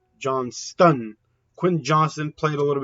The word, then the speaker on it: Johnston: I was pronouncing it Johnson, but it's not pronounced Johnson. I think it's pronounced Johnston.